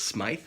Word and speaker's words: Smythe: They are both Smythe sewn. It took me about 6 months to find out how to really pronounce it, but it's Smythe sewn.